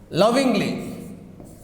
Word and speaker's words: lovingly: Okay, lovingly. This is ly, ending in ly. Okay, the stress is on first syllables.